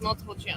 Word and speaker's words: Montepulciano: couldn't be happier that I know how to pronounce. And this one actually is Montepulciano.